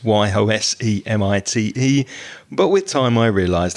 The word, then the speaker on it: Yosemite: years i grew up thinking that yosemite was pronounced yosemite because it's y-o-s-e-m-i-t-e but with time i realized i was pronouncing